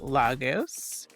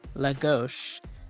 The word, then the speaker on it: Lagos: Porto to Centra to Logos. Um, actually that's pronounced Lagos.